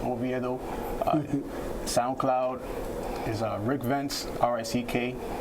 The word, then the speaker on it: Oviedo: Yeah, you can find me on Instagram, DERICKOVIEDO, pronounced Oviedo.